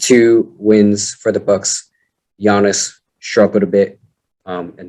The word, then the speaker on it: Giannis: john giannis giannis okay giannis you don't pronounce the g giannis scored points and that